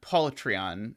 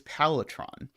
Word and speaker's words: Palitron: Oh, did I say Patreon? Polytron. Or sorry, Palitron? Wow, if I had been asked to spell that, I would definitely have spelled it very wrong. Sorry, it is Palitron.